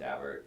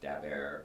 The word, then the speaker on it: Daubert: the Supreme Court called Daubert, and it looks like it should be pronounced Daubert, but I know people who know the Dauberts, and that's the way they pronounce it.